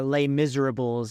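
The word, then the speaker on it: Les Misérables: free and again watch Les Miserables because or lay Miserables As Americans say it but I can't say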